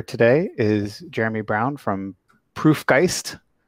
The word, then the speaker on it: Proof+Geist: is jeremy brown from proof geist right plus is silent in there i think um and